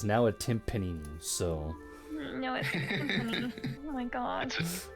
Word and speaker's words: timpani: A Yeah, you are timpani. not pronouncing that right. Jesus Yeah. fucking Christ. It is now a timpanini, so... No, it's a timpani.